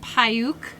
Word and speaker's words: Paiute: We are at, I think it's pronounced Paiute State Park in Utah.